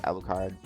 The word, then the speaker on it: Alucard: Alucard, or however you pronounce the last name, did a great job. It's Alucard.